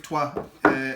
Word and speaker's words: Troyes: So my number 4th game is one that could have been number 1 in a different year, and that is Troyes, but it's pronounced Troyes.